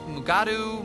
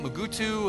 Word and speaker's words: Mugato: Did you know they have alternative pronunciations? Mugatu, Mugutu, and Gumato?